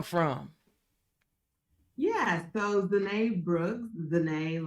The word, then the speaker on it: ZeNai: yeah so Zan Brooks Zan like Renee with a z just I like to